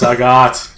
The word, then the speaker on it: Sagat: Here we go with Sagat. Or, as some people like to call Sagat. I like to call him Sagat. I've always called him Sagat. I don't care what it rhymes with. It is Sagat.